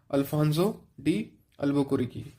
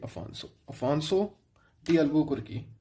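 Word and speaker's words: Afonso de Albuquerque: आप लिख लिया करो, अल्फांसो डी अल्बुकुर्की। नाम तो चलो सही है, अफांसो है ये, अफांसो डी अल्बुकुर्की, ठीक है।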